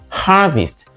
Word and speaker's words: harvest: It is always pronounced harvest, whether it is a verb or a noun. The stress does not change, and there is no harvest in English.